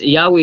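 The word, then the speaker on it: Yahweh: Jehova impyerno ka pero kung base kita sa unitama ng pronunciation sa pagbasa ani no is yawe siya no yawe siya na pagaliuban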